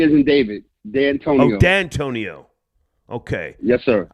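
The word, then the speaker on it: Dantonio: Van, as in Victor Vantonio? D as in David. D'Antonio.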